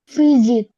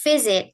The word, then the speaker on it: visit: Visit. Boleh diulang. Visit. Oke, nice. Visit. Jadi enggak S ya, tapi Z ya.